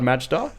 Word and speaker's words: Majda: It's been a while in the works, but now correct me if I've pronounced your name wrong on this, but Gerard Majda? Gerard Majda, very close.